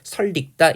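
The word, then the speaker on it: 설익다: 얘도 설 더하기 익다에서 니은 첨가 되는데 리을과 만났기 때문에 유음화 일어나서 최종 발음은 설릭다 이렇게 되는 거죠.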